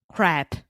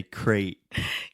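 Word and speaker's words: crêpe: And in English? Crap. So you just said crap, which is like I a know. kind of nice word for shit. So we say crate.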